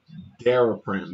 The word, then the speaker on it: Daraprim: Daraprim.